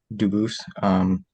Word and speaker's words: Dubas: I am Dubus. Dubus is the English pronunciation. Dubus is the original French.